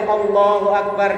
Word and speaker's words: Allahu Akbar: yang mengalahi lafaz Allah kalau misalnya bacanya begini Allahu Akbar salah fotal salah besar a-nya harus pendek Allahu akbar karena a